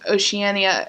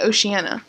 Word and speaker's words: Oceania: like the citizens of oceania oceania oceania oceania i hate that why can't it be oceana that's a lot better oceania i